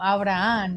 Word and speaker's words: Abraham: But yes, you guys, thank you so much, Abraham or Abraham in español. Abraham? Abraham. Abraham. Abraham. No, we don't. The H is silent, right?